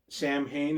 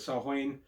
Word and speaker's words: Samhain: Samhain, as I used to call it phonetically, but Samhain is more akin to Halloween.